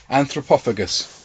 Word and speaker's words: Anthropophagus: Oh, how do you pronounce that? Anthropophagus.